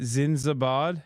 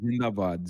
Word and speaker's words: Zindabad: At least the At least Pakistan Zind, how do you say it? Zindabad. It's called Zindabad. Zindabad means long live.